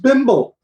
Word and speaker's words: Bimble: Just Bimble.